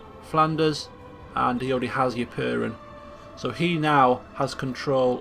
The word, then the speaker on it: Ypern: So the closest that we have to family in Flanders is Earl Frere of Ypern. That's how you pronounce it.